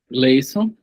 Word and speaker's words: Gleison: Gleison. Eu falo Gleison ou tá certa a pronúncia? Tá certo, sim, professor.